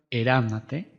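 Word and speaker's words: ἐρευνᾶτε: conocen el verbo ernate su tema radical es eram su pronombre es ate su transliteración era su pronunciación ernate su traducción escudriñan es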